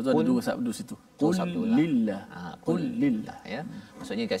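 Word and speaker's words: قل لله: Dia kena kul lillah ke kulillah? Kena baca kul lillah. Kul lillah. Okay. Maksudnya lam tu kena, betul. Lam yang pertama mati, kul, kemudian diidgham atau masuk dalam lam yang kedua itu.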